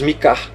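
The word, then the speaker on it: Micah: Em inglês, Mika. Você vai falar o Mi e o Kar.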